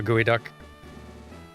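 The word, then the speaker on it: geoduck: it is it's pronounced gooey duck though it does the word does not look like what you would pronounce gooey duck but it's pronounced gooey duck or is it pronounced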